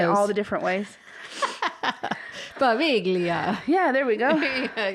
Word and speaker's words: Poveglia: And, that's my story on Poveglia Island. Poveglia Island. Good job. Poveglia Island. We'll just say it all the different ways. Poveglia.